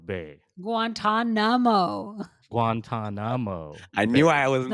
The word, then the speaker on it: Guantanamo: bay because they think Harold guano gu Guantanamo guanto Bay Guantanamo Guantanamo I knew I wasn't the only one